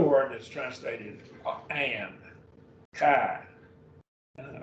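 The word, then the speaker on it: καί: that's translated and kind kai and alpha iota is a diphthong so it's kai that's just the word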